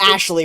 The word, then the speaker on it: Ashley: do you say that it's asy is it just Ashley it's just Ashley righty oh my God